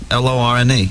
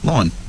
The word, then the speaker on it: Lorne: L-O-R-N-E. Yeah, but how do you say it? Lorne. A lawn. Yeah, Lorne. Like mow your lawn.